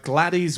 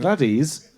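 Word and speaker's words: Gladys: amazing woman so uh gladies West um Glades I think it's just GL it's it's spelled with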